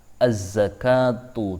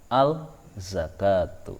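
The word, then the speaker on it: الزكاة: dengan Za maka Hai cara bacanya adalah Azza kartu tidak boleh dibaca Al zakat tuh Hai kemudian yang ke-13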